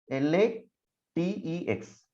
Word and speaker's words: LaTeX: call it as lactic so you have to pronounce it as la tex just a second l-a-t-e-c-h has latex okay now let me